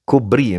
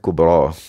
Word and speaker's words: al-Kubra: Bikri ke apa? Kubri bacanya. Setengah ulama kata Najmuddin Al-Kubri. Dengan setengah ulama baca dengan Kubra. Jadi Syekh ni dia meninggal dunia pada tahun 618 Hijrah.